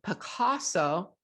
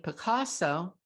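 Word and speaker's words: Pacaso: D, Picasso, that's spelled P-A-C-A-S-O. E, Quintest. Again, A, Elite Destination Homes. B, Equity Residences. C, Inspirato. D, Picasso.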